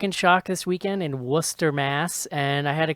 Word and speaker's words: Worcester: pronounce that Worcester? Nope, Worcester. Is that right? Worcester. Okay. No R's.